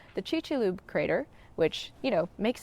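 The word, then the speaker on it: Chicxulub: Oh, and fun fact, I also learned on the field trip that the Chickixaloo Crater is actually pronounced the Chi-Choop Crater, which, you know, makes sense in hindsight.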